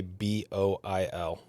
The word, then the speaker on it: boil: You would think it if you saw it spelled like I say it, you'd think it was bull.